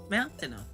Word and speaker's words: Mountaino: I was also confused at first, but Mr. Flareon insisted that it is actually pronounced Mountaino.